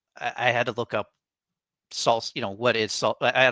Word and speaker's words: SLSA: And then it's like, no, it's pronounced salsa.